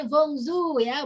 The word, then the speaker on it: bonjour: Kalau bonjour itu dibacanya bonjour ya, bonjour.